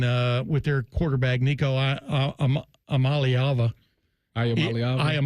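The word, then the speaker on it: Iamaleava: with their quarterback, Nico Amalyava, I am Aliava. You can pronounce it eight different ways. It really sounds more like I'm leaving.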